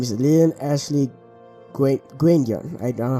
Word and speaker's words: Guendian: Greetings, my name is Lilian Ashley Guendian. I don't know how to pronounce that. It is pronounced Guendian. Oh, Guendian.